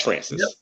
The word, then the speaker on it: Francis: So Dax Francis, am I pronouncing that correctly? Dax Francis.